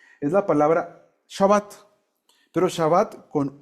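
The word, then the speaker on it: שבת: O sea que ¿cómo se pronuncia? Shabbat. O sea, es una V dental. ¿Cómo se dice así? Cuando haces así, V, porque esta es de labial, ¿no? V, Shabbat.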